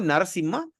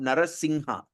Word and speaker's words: Narasimha: We say the M from the nose. All right. It sounds like like Narasimha. You see the M, there's a dot on top. So you can pronounce Narasimha or you also can pronounce Narasingha. So it doesn't matter, right?